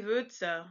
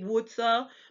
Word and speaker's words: Würze: And then the sound, it sounds like the U in hurt, but yeah, it's a little tricky too. So you'd say Würze. You wouldn't say Wurze, but you'd say Würze or I don't know.